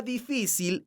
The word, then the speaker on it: difícil: La palabra difícil es una palabra grave porque su sílaba tónica es la sílaba fi. Esta palabra termina con la consonante L. Entonces, tiene un acento ortográfico que se escribe en la vocal de la sílaba tónica, que es la letra I.